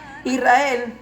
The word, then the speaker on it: Israel: Israel actualmente se pronuncia con S, porque así está puntuada la letra Shin, para sonar como una S y no como una SH.